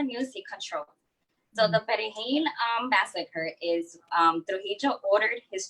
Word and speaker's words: Perejil: to say the word Perejil. Haitians can't pronounce the R because of, they speak Creole. So it was more difficult for them to pronounce the R in Perejil.